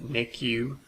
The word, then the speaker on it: NICU: intensive care unit nurses usually abbreviated and ICU or it's pronounced NICU so it NICU nurse robots about health